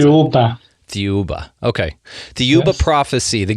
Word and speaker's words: Thiaoouba: How do you pronounce Thiaoouba. it? Thiaoouba.